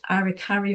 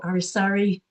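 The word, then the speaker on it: aracari: Wonderful collared arikari or arisari, pronounced by different people differently. Relatively small member of the toucan family, but absolutely gorgeous coloration and intricacies of the bill there.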